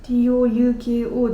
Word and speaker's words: Touko: 中学生の時に英語の先生に、あなたは TOUKO ではなく TOKO ですっ